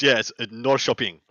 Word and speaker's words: Norrköping: So I went and looked up the pronunciation. It's Norrköping.